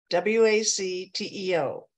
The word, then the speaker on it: WACTEO: W-A-C-T-E-O. And it's pronounced Wacteo.